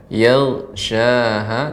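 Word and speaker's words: يغشاها: Yaghshaha, jangan sampai ada pantulannya ya.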